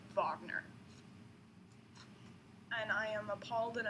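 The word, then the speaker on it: Wagner: written by busy and it's pronounced vagner and I am appalled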